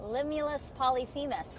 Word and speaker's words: Limulus polyphemus: Limulus polyphemus.